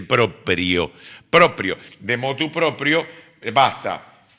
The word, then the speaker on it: proprio: No, es latín, no se dice propio, se dice proprio.